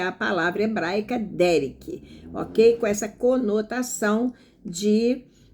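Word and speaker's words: דֶּרֶךְ: Olha, a palavra caminhos aqui vem do hebraico, veja bem, derek, acentuando-se na primeira sílaba, derek, ok?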